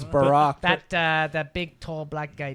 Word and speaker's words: Barack: always call it Barrick. Barrick. Yeah, Barrick it's Obam. Barrick Obam. Barrick Obam. It's Barack.